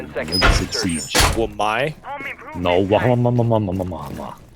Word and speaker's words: Wamai: Wamai? No, 5 seconds to go. that's how you pronounce his name.